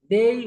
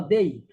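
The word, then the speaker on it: they: দে will ইট। অনেকে পরে দে, সঠিক উচ্চারণ হলো দেই।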